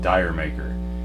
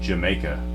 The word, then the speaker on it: D'yer Mak'er: And I would hear DJs on the radio call it Deer Maker. And I looked it up and it says it's pronounced Jamaica, like some British slang term for Jamaica.